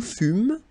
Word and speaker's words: fûmes: Okay, then, nous fûmes. Final S not pronounced.